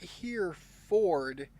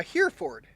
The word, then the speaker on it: Hereford: it's the other way you pronounce oh uh Hereford it's not here Ford so it's uh like a hair Ford something something closer to that or like heraford was actually pretty close to the Wells pronunciation uh English say abras